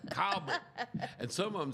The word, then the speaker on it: Colbert: C O L B R T. What does that spell to you? I would have just Well, I think that's just the way I say it, though. I just say it. Colbert. Well, I said I was very enunciative and I said, "And in Colbert County, you know, and Lauderdale and Colbert County." Ring ring. Oh, man. The phones lit up. Calbert.